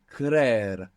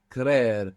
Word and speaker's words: creer: So, to believe is creer, creer, and it has 2 E's. C-R-E-E-R, creer.